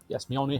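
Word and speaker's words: Mjölnir: Yes, Mjolnir has a J in it. It's pronounced with a Y, but it's a J.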